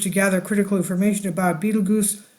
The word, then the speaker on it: Betelgeuse: chance for astronomers to gather critical information about Beetle Goose pronounced like Tim Burton character Beetle juu okay I've been saying it wrong it's Beetle Juice that could help scientists understand the birth of